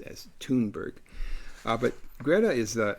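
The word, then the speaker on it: Thunberg: th U NB RG but I understand it's pronounced as tberg uh but Greta is the the 7 old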